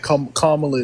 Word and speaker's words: Kamala: all this inflation that Kamala did Kamala Kamala he said it right the first time so again inflation wasn't